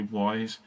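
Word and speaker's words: Ys: I think it's pronounced Ease, but a lot of people say Wise.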